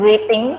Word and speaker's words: reading: Meskipun tulisannya reading, bukan dibaca reading, tapi Tugasnya apa? tugasnya akan ada di akhir pertemuan hari ini. Jadi simak terus ya. Tidak. Reading. Meskipun tulisannya E sama A, dibacanya I. Reading.